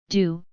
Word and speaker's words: Do: including the to bow do rhymes with Bo Peep and Ti Marshall and